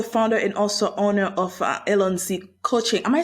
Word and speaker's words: Allons-Z: You are the founder and also owner of Allon-Z Coaching. Am I saying that properly? Is that Yes. how you say it? Yes, that's perfect. Allons-Z Coaching, and just a background, Allons-Z is the French for let's go, Cool.